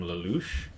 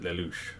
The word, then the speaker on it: Lelouch: But I think you pronounce it Lelouch, something like that.